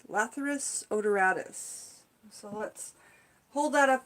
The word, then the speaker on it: odoratus: So sweet pea, the way that we pronounce the name is Lathyrus, L-A-T-H-Y-R-U-S, Lathyrus, Lathyrus, odoratus, Lathyrus odoratus.